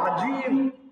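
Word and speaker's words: عظيم: সুবহান রাব্বিয়াল আযীম, এখানে আযীম জ দিয়ে আছে, আর জটাকে নরম করে পড়তে হয়, আর জিম এটা শক্ত করে পড়তে হয়, আজিম, আজিম। তো আজিম মানে হচ্ছে বোবা, আর আযীম মানে হচ্ছে সম্মানিত।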